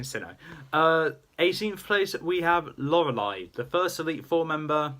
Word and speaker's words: Lorelei: 18th place we have Lorelei, the first Elite Four member that most people were gone against. Not my first, the first one I went against was Aaron. But Lorelei is the proper original one of the original